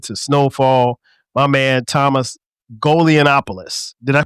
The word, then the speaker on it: Golianopoulos: My man Thomas Golianopoulos. Did I pronounce that right?